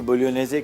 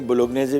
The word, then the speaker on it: Bolognese: बोलोनेज़े, बोलोनिया एक जगह है इटली में, और स्पेलिंग BOLOGNESE है, ठीक है ना, तो जी साइलेंट है इसमें, कोई मसला नहीं। बोलोगनेज़े भी बोल देंगे, बोलोगनेज़ बोल दें, हमारी ज़बान नहीं है भाई, हमें जो समझ में आएगा हम वो बोलेंगे। ओरिजिनल वैसे इसका प्रोनाउंसिएशन बोलोनेज़े है, ठीक है।